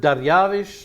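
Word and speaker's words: דריוש: That Bible word, Dariavish, looks like Darius, but the Hebrews would pronounce it Dariavish.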